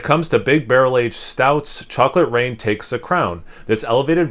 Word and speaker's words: Chocolate Reign: So still pronounced Chocolate Rain, but different spelling of rain.